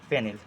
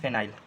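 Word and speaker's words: phenyl: अगर सब्स्टट्यूटेड ग्रुप में लिखते हैं तो यहां पे इसका हम यूज़ करते हैं फेनिल। ठीक है? इसको हम लिखते हैं फेनिल या फिर फिनाइल। ठीक है? And correct pronunciation is फिनाइल।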